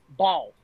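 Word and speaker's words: Baal: Ball. That's how you say it.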